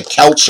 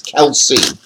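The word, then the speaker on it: Kelce: Kelsey, man, I always say I always say Kelch or something, but it's Kelsey.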